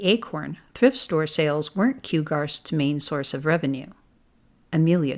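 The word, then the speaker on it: QGARST: will could end up shutting down q-g-a-r-s-t it's pronounced kugarst Lydia corrected kugarst short for quercus Grove Animal Rescue society and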